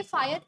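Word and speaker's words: Pyhrr: Peter ए फायर, और जी हाँ इनको फायर प्रोनाउंस करेंगे PYHERR।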